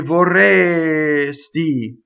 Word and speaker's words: vorresti: The S, you have to be very careful with this S that you do not hiss it too soon. When you speak, you can say vorresti. When you sing, you have to say vorresti, and put the S on the next note always.